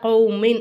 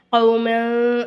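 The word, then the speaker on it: قومٍ: என்ன செய்யணும் இந்த இடத்துல இந்த கௌமின் அப்படிங்கறத கௌமல் அப்படின்னு சொல்லக்கூடாது சரிங்களாமால் அப்படின்னு சொல்லாம கௌமின் அப்படின்னு சொல்லிட்டு நல்லா வெளிப்படையா மின் இந்த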